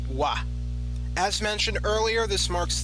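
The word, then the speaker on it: は: The first particle is W spelled written as ha but actually pronounced as wa.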